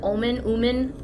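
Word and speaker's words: Ommen: to the town of, I don't know how you pronounce it, Omen? I would say Omen. So it's spelled O-M-M-E-N.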